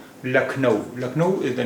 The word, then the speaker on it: Lucknow: in India LNO LNO in English we spell it as l u c k n o w uh LNO but in Hindi we say LNO lakau lakau is the name